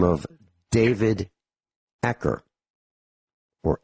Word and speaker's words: Acer: Because there was a dentist by the name of David Acker, or Acer, A-C-E-R is how it's spelled.